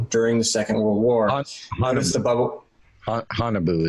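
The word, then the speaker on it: Haunebu: the second world war hanabu is how you pronounce that honey boo-boo honeyboo during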